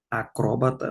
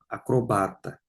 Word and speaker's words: acrobata: Acróbata, não, acrobata.